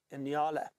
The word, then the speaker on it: nyala: And there's another species of antelope we find in this area known as the Inyala. That is spelt N-Y-A-L-A, Inyala.